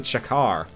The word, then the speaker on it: chakram: uh the word chakram it's not actually pronounced chakram it's actually chakar uh weird i'm just